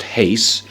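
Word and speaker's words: εἷς: it's the adjective that means one so it's pronounced Haise and the rough breather for some reason is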